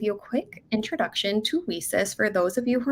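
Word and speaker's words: WiCyS: a quick introduction to WESIS for those of you who are not familiar with us. WESIS is pronounced we sis as in we sisters because that is exactly what we are.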